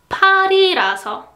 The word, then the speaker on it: 팔이라서: 발이라서, 팔이라서. So first phrase is like 발이라서. But the second one is like 팔이라서, right?